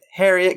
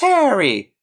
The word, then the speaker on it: Harriet: yeah they'll be like it's Harriet can you please grab the placeat and she's like it's pronounced Harry and it's just like oh